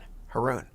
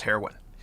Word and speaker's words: Haroun: you so for example my last name is h-a-r-o-u-n uh which which is heroin heron haroon people used to read my name wrong as heroin okay so here's what